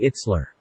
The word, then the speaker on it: Itzler: you can find him Jesse itzler it says yes so we will pronounce that way if you want to